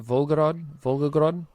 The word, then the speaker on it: Volgograd: Volgograd, Russia.